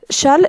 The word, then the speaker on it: Chasles: s'appelle la relation de chasles donc challes ce qui est comme ça mais on a prononcé challes d'accord c'est la relation